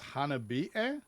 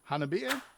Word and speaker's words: HANABIE: discussion about this band who I believe is pronounced Hana B air Hannah beer uh I believe it's gonna